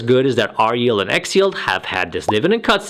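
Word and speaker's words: XYLD: 500 ETF TI a symbol X yld and pronounce as X yield and it follows the S&P 500 as the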